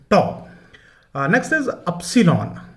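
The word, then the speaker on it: tau: Okay, the pronunciation is अ टॉ, इट्स नॉट ताऊ, the pronunciation is टॉ।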